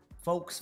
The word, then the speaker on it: folks: Because like folks, for example, if the L wasn't there, then it would be fox.